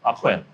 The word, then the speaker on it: AhQuin: We are doing podcast number 4 with AhQuin. Did I pronounce that correctly? Yep, AhQuin.